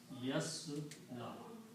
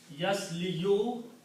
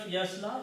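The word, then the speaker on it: يصلى: So instead of pronouncing yasliyu, it's easy to say yasla. That's how Arabs did. So what's the meaning of yasla?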